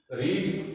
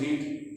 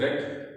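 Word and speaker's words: read: रीड first form है और third form बदलती नहीं, लेकिन प्रोनाउंसिएशन चेंज हो जाता है। First is रीड, the second रेड and third रेड। इसको रीड नहीं पढ़ना, ए बुक इज रेड।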